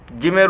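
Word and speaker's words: ج: জিম, জিমের উচ্চারণ স্থান হচ্ছে আমাদের জিহ্বার মধ্যখান।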